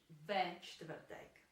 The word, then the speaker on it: čtvrtek: The same is true for čtvrtek as well, because it's also very difficult to pronounce. There's this consonant cluster at the beginning of the word.